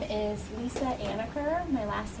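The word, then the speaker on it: Anacker: do thank you yes my name is Lisa anniker my last name is spelled a-n-a-c-k-e-r thank you people you're witness thank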